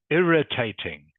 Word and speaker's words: irritating: The I is a short I sound. Okay, irritating.